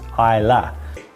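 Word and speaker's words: Islay: when you read it it says I is pronounced pronounced Ila uh Miss just the way to pronounce it so you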